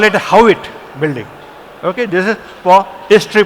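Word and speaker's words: Haughwout: Okay, now you spell it as Howitt. They call it a Howitt building.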